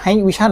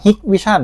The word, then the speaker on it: Hikvision: D1 นะ ครับ 1080p ผม อ่าน ว่า H Vision มา ตลอด เลย นะ จริง ๆ เา อ่าน ว่า Hick Vision นะ ครับ ความ ละเอียด ค่อน